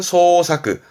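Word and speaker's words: 捜索: 발음은 소사크, 소사크.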